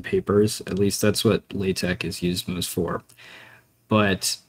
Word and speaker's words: LaTeX: Uh apparently it's Latte according to the Latte Foundation, but everyone just kind of says they say all different things. It's It's kind of a pronunciation disaster. There's no one really follows their advice. People just say how they learned it.